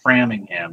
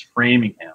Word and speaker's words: Framingham: Although I did catch Pat mispronouncing Framingham. It's not Framingham. It's Framingham.